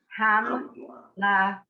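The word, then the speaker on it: המלכים: Hamlachim. We are assuming that there is a silent vowel under the first mem there. Ham. Therefore you blend into it.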